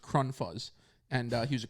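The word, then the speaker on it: Krunfuss: it was like k-r-u-n-f-u-s-s but it was like german it was pronounced kron fuzz and uh he was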